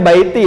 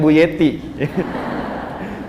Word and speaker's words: Baiti: jannati gitu kan ya bacanya Baiti ya bukan buyeti Baiti jannati percikannya Sakinah